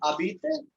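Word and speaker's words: habite: Who abite? Who. So this is called abite. Right? The Z is not pronounced here and the H obviously not pronounced.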